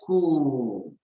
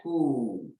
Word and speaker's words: court: We say elle court. Again, elle court. Elle court. It's cool. The T is silent. This T is not pronounced, so don't mention it.